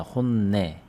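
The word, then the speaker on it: 本音: 잠깐 일본어 공부를 하면요 어 내라고 읽습니다 혼내 음악이라고 하면 온각 그라고 해서 얘를 온으로 읽어야 되는데 여기선 네로 읽었거든요 이런 경우가 많지 않은데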